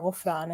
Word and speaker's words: Ghufran: And yes, the H in my name is a little confusing in English, because, you don't know why Gene and H would go together. But to me, Gufran, or Ghufran, as it's pronounced in Arabic, is, how you should say my name.